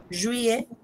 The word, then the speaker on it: juillet: Juillet. Juillet. Juillet. Juillet. Fais attention à la prononciation. Juillet. Juillet. Juillet. Non, juillet. Juillet. Juillet. Ah, comme Marisol a dit, juillet, mais plus rapide.